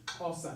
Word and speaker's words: Xhosa: It's Xhosa. There's a click in there. Xhosa, pronounced as Xhosa. There are 3 clicks in Xhosa. The X click, the Q click, and the C click.